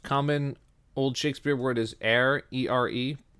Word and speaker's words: ere: So we said the most common old Shakespeare word is ere, E-R-E, pronounced air, like the air you breathe, means before.